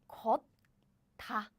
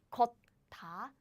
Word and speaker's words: 걷다: So it's not 걷다, 걷다, 걷다. It's 걷다, 걷다. And as you can guess, I'm not making this rule complicated. It's simply because this is easier to pronounce.